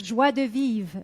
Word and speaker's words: joie de vivre: Joie de vivre, yes.